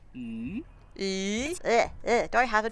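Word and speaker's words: 鱼: Chinese fish and extra are both pronounced yu.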